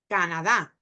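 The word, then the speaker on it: Canadá: um Jo so the Canada Canada which in Spanish we put the stress of that name on the last syllable Canada Canada so Canada so another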